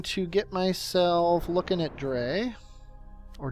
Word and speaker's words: Dres: A lot of people have a problem with me saying Dray instead of dress. I don't know why. It's just the way the word is spelled makes me think it should be called Dray and not dress. Like Dr. Dre.